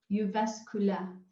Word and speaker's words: Jyväskylä: And you are at the university in Finland, which name I'm not able to pronounce correctly, forgive me. Right, that's the University of Jyväskylä. Jyväskylä, thank you.